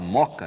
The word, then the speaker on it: Mooca: Pois é, acontece o seguinte, que o caso de Moca, a gente fala Moca, né? Porque a gente já fundiu os 2 Os, mas a gente escreve com 2 Os, Mooca, né?